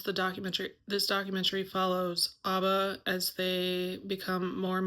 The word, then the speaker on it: ABBA: and it's definitely for ABA fans, ABBA fans. Sorry, it's not pronounced ABBA. It is for the ABBA fans and I am one of them.